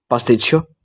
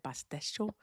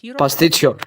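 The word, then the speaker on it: παστίτσιο: Pastichio. I can't pronounce that. You said pasticho. Can I say it a pastichio?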